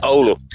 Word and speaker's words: Oulu: well pronounced there so lots of lots of time people get that wrong saying ooh or something it's olu anyway so i've been working